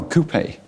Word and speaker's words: QP: Oh, coupe. Yeah, купе. yeah. Right, You right, need to pronounce just like this. Coupe.